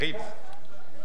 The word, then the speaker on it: Reeves: Is it Reves or Reeves? How do you say it? Hubert what? Hubert Reeves. Hubert Reeves? Reeves, it's a French astronomer, a famous astronomer. No, you said that's Reeves. Reeves. Absolutely, Reeves.